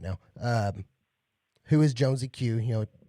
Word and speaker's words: JonesyQ: Jonesy Q.